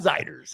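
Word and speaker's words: Zeiders: I'll bet you pronounced it the other way, didn't you? I did at first. Yes. Zeders? Zeders. Yep. Not Zeders, Warren Ziders.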